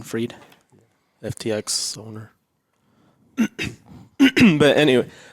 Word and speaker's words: Fried: yeah, it's spelled Fried. but like German freed.